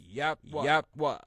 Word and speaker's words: Yahweh: YHWH, which we pronounce Yahweh.